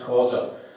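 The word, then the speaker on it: Xhosa: spelled X H O S A but it's pronounced Kausa.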